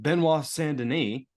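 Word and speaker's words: Benoît Saint Denis: good on her more power to her um Beno sandin to say it correctly this week um they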